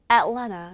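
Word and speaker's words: Atlanta: 제가 아틀란타에서 왔는데 아틀란타도 애틀랜타 이렇게 발음하거든요.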